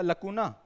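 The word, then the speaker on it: lacunae: इसका होता है लकुने। जैसे फॉर्मूला होता है ना, लकुने, ठीक है।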